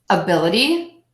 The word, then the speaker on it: ability: have four syllables and we know the rule is you stress the syllable B for the a D which is the ity so syllable two will be stressed bill a d complex